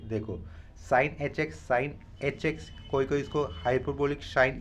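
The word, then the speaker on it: sinh: हैं छोटे से, देखो साइन एच एक्स कोई इसको हाइपरबोलिक साइन, ये हाइपरबोलिक साइन होता है, शाइन की रीड करता है, शाइन मैं तो शाइन रीड नहीं कर रहा हूँ, सिंपली साइन बोलकर इसको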